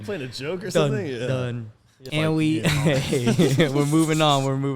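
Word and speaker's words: đần: added anne right but in vietnamese it's spelled d-a-n but it's it's pronounced done it's just means stupid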